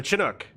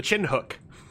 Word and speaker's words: Chinook: Yeah, the Chinook. The chin hook. As I would jokingly mispronounce it as.